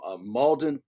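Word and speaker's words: Mauldin: Um Malden Malden, am I pronouncing that correctly? Malden, South Carolina. Molden, South Carolina.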